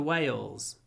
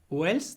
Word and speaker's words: whales: We use this device to track the whales. Nie. Wales, the country. The whales. Pronunciation of Wales, kit, and Wales, Wales is the same, so the computer doesn't know.